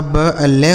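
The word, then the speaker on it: blue: जैसे बी एल यू ई तो बी एल से आधा ब ल हो गया। इस यू का उच्चारण यू हो जाता है। लिखा गया ब्लू।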